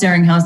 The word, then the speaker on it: Zeringhaus: and I just thought, I'd call my book something that rhymes with my last name so that they could figure it out. So it's Blaringhaus, Zeringhaus. That's how you say it.